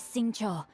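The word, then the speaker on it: Xingqiu: leash where are my manners my name is sing Cho a humble literature Enthusiast who happened to be passing by sing Cho sing Cho I have been pronouncing that sing sing Singa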